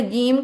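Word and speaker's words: جيم: हम माशा्लाह very good अब जीम को हमने जीम कहना है कि जीम जी हम लॉन्ग करना है क्यों लॉन्ग क्यों करना है?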